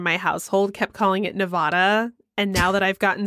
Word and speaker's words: Nevada: unless it's like Nevada, where they get really upset if you say it wrong. Yeah, I fixed myself on that one really quick. I used to be a Nevada person, but it's Nevada. It's Nevada, right?